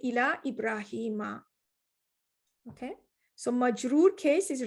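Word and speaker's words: إلى إبراهيم: this is different so you're not going to say ila ibrahim you're going to say ila ibrahima okay so major case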